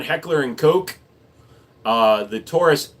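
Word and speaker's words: Heckler & Koch: I also correct people on Heckler and Coke.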